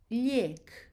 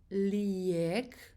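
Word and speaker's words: lijek: new yes yes again i j e liek so it's not leak it's skipping creation e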